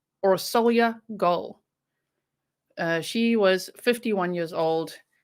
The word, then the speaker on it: Orsolya Gaal: was originally from hungary so i've heard her name pronounced many ways but the most commonly heard way is aura solya goal she was 51 years